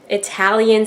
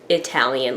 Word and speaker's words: Italian: And then my husband's like, no, it's like Italian, like Italy, Italian.